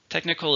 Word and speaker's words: technical: Technical is related to specific information and or science. It's an adjective. How many syllables in technical? 3, stresses on the first syllable.